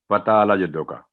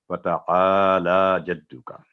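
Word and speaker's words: تعالى جدك: आइन के ऊपर ज़बर है, सात अलिफ है, 2 सेकंड आवाज़ लंबी, और लाम पर भी खड़ी ज़बर है, तो दोनों आवाज़ें 2 सेकंड लंबी करके पढ़ेंगे, फ़तआला जद्दू का।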